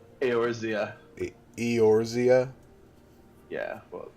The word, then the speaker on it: Eorzea: Eorzea? Yeah, well, I imagine it's pronounced more like Eorzea, but it could be Eorzea. Orzea.